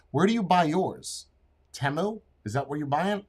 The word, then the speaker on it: Temu: at versus mine where do you buy yours temu is that where you buy and yes that's